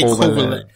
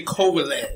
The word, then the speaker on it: Kovalev: last Saturday between Andre Ward and how you pronounce his name? Kovalev? Sergey Kovalev. Sergey Kovalev.